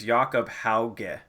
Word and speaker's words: Hauge: He said, so, Kleiser says, also ask my Norwegian friend, it is Jakob Hauge.